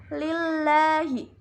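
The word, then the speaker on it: لِلَّهِ: lillah jutnya ada hukum bacaan lam tarqiq pada kalimat lillahi karena ada huruf lam jalalah atau lafadz Allah yang didahului dengan harakat kasrah cara membacanya yaitu tipis lillahi selanjutnya pada kalimat rabbil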